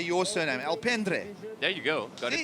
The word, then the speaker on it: Alpendre: Alpendre. There you go. Got it the first time around. My pronunciations are getting better from the start.